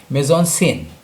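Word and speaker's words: mise-en-scène: आपको जानकर आश्चर्य होगा कि इस टेक्निकल टर्म को मेजॉन सीन, जिसको एफटीआई के बच्चे कहते हैं, उसका एक्चुअल प्रोनाउंसिएशन है मेजॉन सीन।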